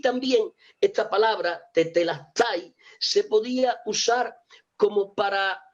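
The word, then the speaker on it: τετέλεσται: que entienden dicen que esa palabra se pronuncia de la siguiente manera: tetelastai, tetelastai.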